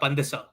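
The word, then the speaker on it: pandesal: How do you say it correctly? Uh, pandisal. Pandis. But then, yeah, but then you got I got the accent.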